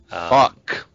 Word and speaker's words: Fuchs: __ ] you know yeah me too but pronounce it how you like fox it is and uh and with with titus